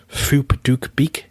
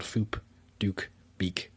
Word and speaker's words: Phuc Dat Bich: So, if read in English, the name sounds particularly rude, although in Vietnamese, the name is pronounced Phuc Dat Bich. So he's actually called Phuc Dat Bich.